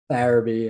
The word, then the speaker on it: Farabee: Farabee, yeah.